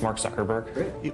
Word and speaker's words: Mark Zuckerberg: Can you just say your name and pronounce it so nobody messes it up and they have it on tape? Sure. It's Mark Zuckerberg.